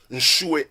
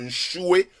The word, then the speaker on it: Nshue: Pasteur Jean-François, Zali joignable na Facebook, Jean-François Nchoué Mpia. Nchoué s'écrit N-S-H-U-E. N-S-H-U-E. Nchoué Mpia.